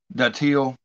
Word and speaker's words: datil: So I went back to an old classic, Bill Moore, He reviewed a daddle hot sauce. That's how he's pronounced it.